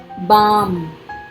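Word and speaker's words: balm: बाम, L silent, दर्दनाशक मरहम, बाम, हम बाम लगाते हैं और लिप बाम लगाते हैं।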